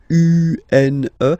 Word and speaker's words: une: Then the feminine article is here, and it's easier because if you have this U-N-E, then you pronounce it une, okay?